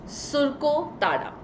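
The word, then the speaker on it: Surkotada: Now let's talk about सुरको ताड़ा.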